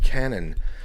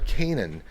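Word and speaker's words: Canaan: Danny Schmidt and that's a song called Canon or Kanan and it's spelled c an a a an as sort of a Biblical uh spelling um uh Danny can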